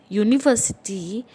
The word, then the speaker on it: university: in front of umbrella but when it is university it is you yo that is that you hear okay so it is